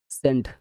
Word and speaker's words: scent: মাস্কাল, এখানে সব সি সাইলেন্ট letter. এই যে যতগুলো ওয়ার্ড সব সি সাইলেন্ট লেটার। মাস্কাল মানে পেশি, সিন মানে দৃশ্য, সেন্ট মানে সুগন্ধ, সেন্ট সেন্ট